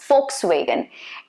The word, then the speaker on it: Volkswagen: to be volkswagen okay volkswagen v is supposed to be pronounced as f be careful about that okay volkswagen very common